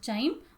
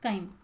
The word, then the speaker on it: chyme: formed into semi-liquid chyme it's also called as chime but mostly it is pronounced as chyme so gastric juice and enzyme hcl provides acidic